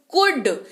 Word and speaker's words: could: एल को भूल जाइए, एल नहीं पढ़ना है, मतलब भूल जाइए मतलब स्पेलिंग लिखते वक्त नहीं भूलना है भाई, पढ़ते वक्त भूलना है। कुड, COULD पढ़ते हैं इसको कुड।